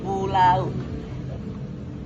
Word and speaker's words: pulau: Contoh kedua, pulau mengandung diftong AU. Jadi bunyi berpindah dari vokal A ke U. Diucapkan jadi pulau.